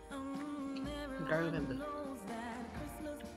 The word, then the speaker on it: Gerlinda: Gerlinda.